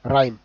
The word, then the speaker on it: rhyme: Then silent H, ఇక్కడ after ఆర్కి after వచ్చేసి H silent అయిపోతుంది. సో RHYME రైమ్. Okay, RHYME రైమ్ అయిపోతుంది. Then this one ఈజ్ రిథమ్, ఇక్కడ కూడా RHYTHM రిథమ్ అవుతుంది.